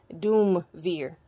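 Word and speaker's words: duumvir: public function all right so chief magistrate or duver also known as doom veer so some people will i think that might have been a typo duver d-u-u-v-i-r but it also is spelled officially is spilled by merriam-webster dictionary as doom veer d-u-u-m-v-i-r okay so that's who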